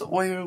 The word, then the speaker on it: Euler: do you pronounce his name some people say Euler other people say Euler Euler is the correct pronunciation why because Euler was German I didn't he spoke German and